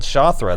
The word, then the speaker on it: Shathra: I'm called Shathra. Her name's In my Shathra. language, it means spider wasp. Yeah. How do you spell that? Is that S-H-A? What is it? Okay. It's spelled the way it sounds.